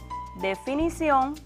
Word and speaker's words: definición: otra palabra ya no definición también una palabra aguda recuerda que cuando la palabra es aguda la fuerza de pronunciación recae en la última sílaba y en este caso definición se acentúa porque termina en consonante n confusión también otra palabra